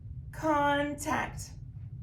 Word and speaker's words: contact: this between the consonants let's figure out which syllable con or tact is accented contact contact it's going to be con so we're going to Accent this syllable here and now we